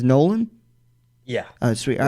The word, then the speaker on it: Nolan: we'll introduce you your your last name the pronunciation is nolan yeah sweet all right